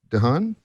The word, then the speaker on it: DeHaan: Did I pronounce that right? DeHaan?